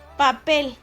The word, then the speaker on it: papel: La palabra papel. Papel. El acento recae en la sílaba pel. Papel.